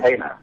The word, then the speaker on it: Tana: Tana, I hope I pronounced your name right. Yes, that's Tana. That's perfect.